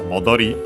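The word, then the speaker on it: 戻り: The accent is on the last syllable, so yeah, modori, and yeah, it means return, as in the noun.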